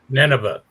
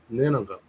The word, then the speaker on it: Nineveh: city of uh NV is that how you pronounce it Dan Nineveh Nineveh Nineveh and there's some ninas in this Eclipse